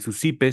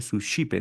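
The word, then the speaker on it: Suscipe: El susipe se escribe en latín, pero se pronuncia sus chipe, ¿no?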